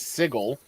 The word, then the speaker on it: sigil: I know that it's I know that it's sigle but I will never not call that sigil right yeah right there is no there is no world in which I'll look at that and pronounce it sigle sigle is the is